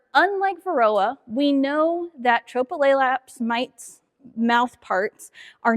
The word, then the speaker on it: Tropilaelaps: Tropleaps is how we pronounce it. Um it's a lot to get out of your mouth and a little bit of a tongue twister. So a lot of times we just call it tropy mites.